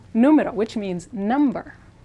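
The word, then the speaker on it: número: students get them confused numero numero which means number notice the accent mark so that's where we're going to stress now here the r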